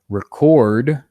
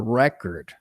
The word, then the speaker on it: record: For example, record or record. In record, the verb, I'm stressing the second syllable. In record, I'm stressing the first syllable.